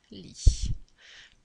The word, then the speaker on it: lis: l on lit l'elysee d'accord on prononce pas le s ou le thé ensuite